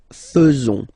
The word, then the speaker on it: faisons: So it's quite strange because French people tend to pronounce faisons. Okay? So like here, this AE is not pronounced like normally we should pronounce it like E, but then like okay? Nous faisons.